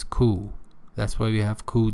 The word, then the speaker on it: coup: So pay attention, P here is not pronounced, it's coup.